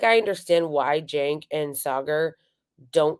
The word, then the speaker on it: Saagar: is how it's pronounced or Sager that's how it's pronounced when Sager was on on Boomer Mar or when crystal ball was he kept calling him cigar and somebody calls him cigar at one point in this too it's not cigar it's not shank or